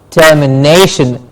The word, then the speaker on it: termination: before Shin for example termination termination the nae gets the stress termination then we have